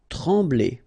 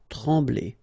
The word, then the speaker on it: trembler: Trembler, okay, same thing here, nasal, M, okay, en, trembler, okay, no pronunciation of the M, trembler.